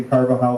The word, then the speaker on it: Carvajal: the family is the Carvajal family how do you spell that c a r v a j a l as you know in Spanish a j is a h silent yes silent and um and